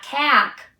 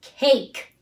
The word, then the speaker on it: cake: a all right take has they long a in it it's not kak it's cake I like chocolate okay